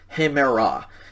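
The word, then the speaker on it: ἡμέρᾳ: quiz or test but we don't pronounce this this is kind of like a silent e in english and so this one is pronounced simply hemera it's pronounced exactly the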